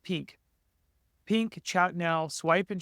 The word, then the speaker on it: PNK: And then in addition, the last one, PNK, we think it's pronounced pink.